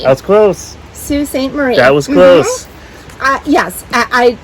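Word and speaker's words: Sault Ste. Marie: it in french but it is pronounced sue it's the proper way in michigan apparently there are some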